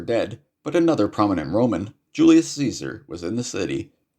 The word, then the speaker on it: Julius Caesar: but another prominent Roman Julius Caesar was in the city his name is more correctly pronounced Julius Kaiser but I won't assault